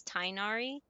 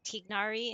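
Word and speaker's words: Tighnari: I'm surprised that since even after they switched uh English studios that they still pronounce his name as Tinari because every other language and even um people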